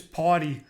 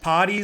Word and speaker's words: Pawtai: correct me and say it's party like kind of like that it's it's like kind of like potty like you taking your dog